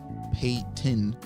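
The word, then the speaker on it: 파이팅: And Smile says, painting, Korean pronounced pei-tin or waiting.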